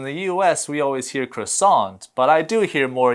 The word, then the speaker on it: croissant: will hear people saying croissant in a different way we kind of follow the French pronunciation which is different because in the u.s. we always hear croissant but I do hear